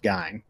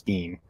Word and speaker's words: Gein: famous diner he he his family pronounced him eddie his family but uh it would if you're gonna get technical it would correctly be pronounced guy but i'm gonna i'm just gonna say with the family used it so it was dean but okay now so